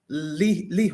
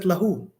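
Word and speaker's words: له: However, when we go up here, it's lahu. Why is it lahu? Why isn't it lihu or lihi? Why is it lahu? It is lahu.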